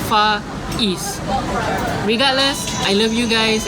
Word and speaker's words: Faiz: Okay, so once and for all, Faiz is how you pronounce the name, Faiz.